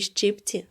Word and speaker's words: щипці: щипці вимога русло у слові щипці наголос на першому складі розставте розділові знаки